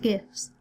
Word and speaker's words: GIF: thing I learned, that they're not even pronounced GIFs. Steve Wilhite, who created them in 1987, has recently said that they're pronounced GIF. But I think that's ridiculous, because if they were pronounced GIF, then why didn't we just spell them with a J from the beginning?